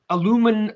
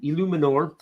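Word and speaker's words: Eluemunor: Illuminor. Phonetically, yeah. Phonetical spelling. Nice. Props to Darius for that. Because I was kind of like getting stuck on the E and the U. Illuminor.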